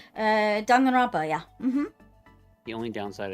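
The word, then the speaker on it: Danganronpa: I want to do the dog and rob how you pronounce it. Uh Dong and Roba.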